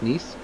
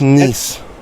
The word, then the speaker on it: Nice: your name niece nice niece he's pronounced nice that's where that's where